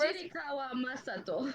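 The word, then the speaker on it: 聖川真斗: Hajiraikawa Masato. I love English. I love English pronunciation.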